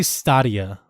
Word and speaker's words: Stadia: They say Stadia.